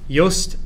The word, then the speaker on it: Yoast: Yoast with a Y, it's like toast with a Y, okay? Spelled the same way.